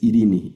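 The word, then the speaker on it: εἰρήνη: griego significa paz, Irene, pero la la lectura es Irini.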